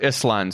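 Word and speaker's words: Ísland: That's not happening in Iceland. You have, or Island, sorry, as you properly pronounce it.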